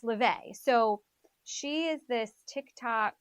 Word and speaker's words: Laufey: So her name is spelled Laufey. Okay. Looks like it's Laffy, but it's LaVey.